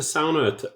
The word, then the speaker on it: sauna: And ANARCHO squats, but you have to pronounce the word the Finnish way, which is sauna, because it's a Finnish word.